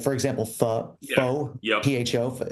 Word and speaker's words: pho: pho is actually fa.